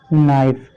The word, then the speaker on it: knife: देखिए यहाँ भी एन से पहले क्या आया है? के आया है, तो यहाँ भी के साइलेंट है, तो आपका बचा क्या? NIFE। इसको हम पढ़ेंगे नाइफ।